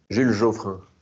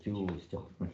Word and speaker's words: Jules Joffrin: I mean, we were just on the street in, how do you pronounce it? Jules Joffrin? Jules Geoffrin. Jules Joffrin. Something like On, that. Jules Joffrin. on était dans la rue. You'd say Jules Joffrin.